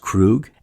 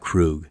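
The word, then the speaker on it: Kruge: It can go both ways, but I feel it mostly sounds like Krug. Commander Krug. Commander Krug. So, I'll go with Krug for this video.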